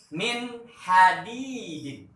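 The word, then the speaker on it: مِنْ حَدِيدٍ: Contoh cara bacanya, lihat Mister Haris. Min hadidin. Sekali lagi, min hadidin.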